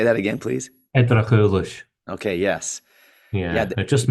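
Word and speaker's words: Eddrachillis: I'm not exactly sure on the pronunciation. It starts with an E, and they interacted with the. Edrachulish, yes. Say that again, please. Edrachulish.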